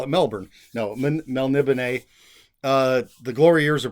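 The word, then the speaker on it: Melniboné: this title Elric of Mel nibone they'll libene that's how I say it there's a little accent on the e at the end of the the word melnibane uh by Michael morcock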